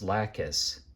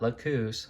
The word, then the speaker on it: Lacus: There's no O in there. It's Lacus, not Lacus, Lacus.